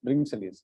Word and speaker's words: Bringselius: We call we can just pronounce it as Bringselius.